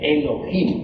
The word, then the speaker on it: Elohim: Eso significa Elohim o mejor dijéramos Elohim, porque la H se pronuncia como J.